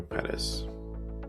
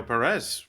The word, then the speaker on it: Peres: Yeah, my first name was okay, it's fine, but Perez is better, like the emphasis is on the first syllable.